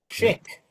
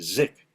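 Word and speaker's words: Szyk: Um, chick. Chick. Z. Zick. Zick. No, it's chick. It is shik. Yep. Oh, okay. Or at least in English the way we say it is shik in his might be different in another language, but Okay.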